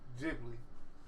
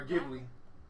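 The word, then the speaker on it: Ghibli: You have, but you just don't remember them cuz it's not Gibli or Jibli. How you say it? Jibli or Giblly? I think it's Jibli.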